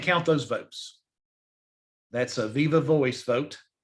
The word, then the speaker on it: viva voce: That's a viva voice vote. Viva voce vote is the way it's pronounced in Latin, but it's a voice vote.